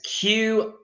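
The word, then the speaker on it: queue: it's completely unnecessary because you only pronounce one letter of the word which is the letter Q so it's such a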